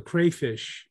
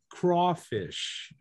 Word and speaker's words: crayfish: We pronounce it crawfish, craw, not cray, but craw.